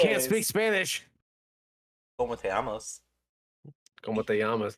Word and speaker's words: llamas: como te llamas? Como te llamas, not llamos. Amos. Double L's. Mm-mm. You don't say the L's. Como te llamas.